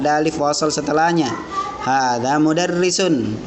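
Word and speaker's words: مُدَرِّس: Liverpool setelahnya Hai harga mudarrisun modern pendek ya Bacanya jangan panjang model lesson Hehehe nanti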